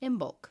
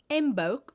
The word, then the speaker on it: Imbolc: hubby lobby whatever okay how do you say it in bulk i am b-o-l-c in bulk in bulk unless you're a british and then it's imbolc embolk yeah we listened to